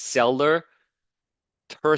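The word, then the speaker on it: sella turcica: during the break okay it's Cellar Tura TSA cell Tura it's the uh again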